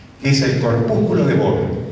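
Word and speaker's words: Barr: se llama corpúsculo, que es el corpúsculo de Bohr, B-A-R-R. Si tiene bar o Bohr, como se pronuncie, si tiene Bohr, es mujer.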